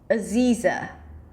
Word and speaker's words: Aziza: I would focus on that and then place the primary stress on the second syllable, Z, which has to be a long E sound, so pull your lips to the sides, and then just reduce the beginning and ending syllables.